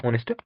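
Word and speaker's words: honest: Start होता है तो इसका जो एच है ये साइलेंट रहता है, और ये ओ साउंड से स्टार्ट होता है.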